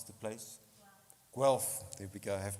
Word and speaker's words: Guelph: I can't pronounce the place. Guelph. There we go. I have to get it right. Guelph.